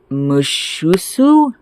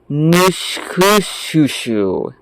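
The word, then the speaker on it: Mushussu: So, Marduk had a chimera, which was a biological mixture of multiple creatures, pronounced Mushusu, or, alternatively, Nushkushushu.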